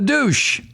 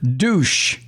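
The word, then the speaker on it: Dush: Well, how would you pronounce D-U-S-H? Senator Douche.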